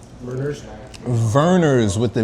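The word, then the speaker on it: Vernors: of like scheps more local how do you spell it b r b e rers verners with the V that's it's a local Drink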